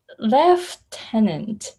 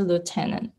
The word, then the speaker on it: lieutenant: one looks really interesting in british english it has f in it how strange it is it's lieutenant left left tenant worse left tenant exactly on the right then and then left and yes wow so um yeah in american english it's a lieutenant yes yeah yeah oh